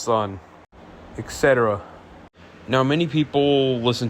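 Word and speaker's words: Sunn O))): Now there are artists like Boris and my personal favorite sono pronounced sun etc.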